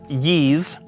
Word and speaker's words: Ys: and then lastly I've learned that this is pronounced ye Memoir the oath in felana refined Edition so